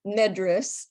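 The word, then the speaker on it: Medres: your translation of Madrid it's nedris actually is the way he pronounced it and it's m-e-d-r-e-s and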